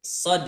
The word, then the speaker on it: Shad: ya Heeh ada dalnya jadi cara membacanya itu s h a d shod memang nama hurufnya seperti